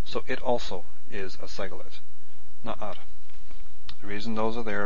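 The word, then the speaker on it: נַעַר: And what happens with na'ar, which means young lad, here we have a guttural. Na'ar is spelt with two patachs and stress in the first syllable. So it also is a segolate. Na'ar.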